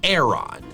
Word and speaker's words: Aron: The official pronunciation is Auron.